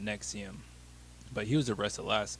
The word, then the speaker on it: NXIVM: the name of the organization is nexium but just how it's spelled because they don't have missing the eval so it looks like something else and just how it is it just doesn't look right but they call it nexium but he was arrested